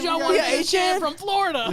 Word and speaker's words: Etienne: He like just a few days ago was like, yeah, y'all been saying my name wrong the whole time. Because we all say Etienne.